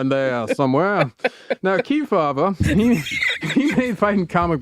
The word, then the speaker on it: Kefauver: Kebaba. It sounds like you're you don't know how to say it. Here's Kea.